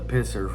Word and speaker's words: Pisser: uh uh the the pisser fames that that is spelled p i s s eer yes the pisser family they have won a